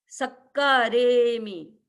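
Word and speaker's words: सक्कारेमि: आगे सक्कारेमी, सक्कारेमी, सक्कारेमी। क्योंकि स पर दबाव आएगा, डबल क है पीछे, सक्कारेमी।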